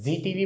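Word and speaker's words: Zee TV: एक Indian channel है, इसे आप क्या प्रोनाउंस करते हैं, जी टीवी बोलते हैं, जेड टीवी बोलते हैं। आपका आंसर होगा सर इसको जी टीवी बोला जाता है।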